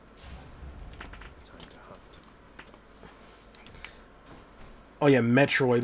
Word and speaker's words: Metroid: Oh yeah, Metroid was another one I mispronounced all the time. I was like, ooh, Meteoroid. It's like that. No, that's incorrect.